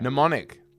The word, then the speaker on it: mnemonic: fair Mnemonic. The word mnemonic. MN. enough. Okay. So It's not that hard to say then, is it? you just don't pronounce the N.